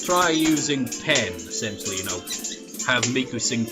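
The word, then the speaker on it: ペン: LP it was but pen in Japanese is pen there is literally no difference whatsoever like in romang it's spelled pen pronunciation it's pen just pen and you know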